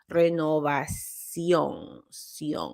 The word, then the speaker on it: renovación: So you're supposed to have an accent on the renovación. Okay, the accent goes on the O.